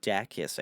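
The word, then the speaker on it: Dacus: third member of boy Genius is uh Lucy dakis I think is how you pronunciate your last name yes so very cool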